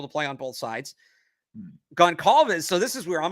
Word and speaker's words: Goncalves: Goncalves. Okay, I've been saying that like an idiot. I've been calling him Goncal. I didn't know. I'd never heard it out loud before. Okay, that's how you pronounce it.